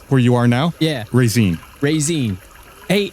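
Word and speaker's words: Raezeen: you are now yeah raisin raisin hey c spell that just like it sounds r a e z e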